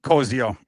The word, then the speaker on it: Koziol: Yeah, it's Koziol.